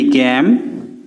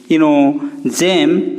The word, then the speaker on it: game: जंदा कि GAME गैम, GATE गेट, जेम की जेड ने हेबार।